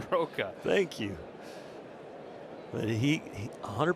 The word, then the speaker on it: Soroka: Soraka. Give it to me. Give we the right pronunciation. Soroka.